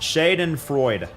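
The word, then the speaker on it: Schadenfreude: Pronounced Shaden Freud.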